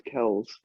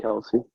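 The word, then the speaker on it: Kelce: news of the week, though, it's pronounced Travis Kells, not Kelsey.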